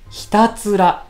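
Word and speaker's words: 皆焼: 役と書いてひたすらと呼ばれる波紋ですこれ読めないですよねみんな解約とかってこれでひたすらと読むんですよ皆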